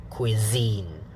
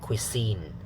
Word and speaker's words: cuisine: later on okay so try to say cuisine so not cuisine okay use the you make the zap sound make it voiced yeah okay next item